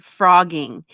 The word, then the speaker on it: phrogging: Did you know there's a crime show and it's called Frogging, and it's spelled Phrogging, and it's a show about people that literally live in like the crawl spaces of people's houses and stuff.